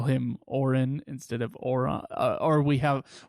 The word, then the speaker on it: Orin: But apparently people have our problems with our pronunciation of Oron. Oh, yeah, that is very true. Orin. Orin, as it is traditionally called.